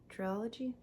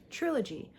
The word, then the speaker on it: trilogy: part of a triology is that how you say it triology Trilogy oh my God those